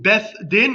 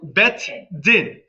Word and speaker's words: Beth Din: Can you spell that word, Beth Din? Beth Din in Hebrew, Beth Din, um or Beth Din.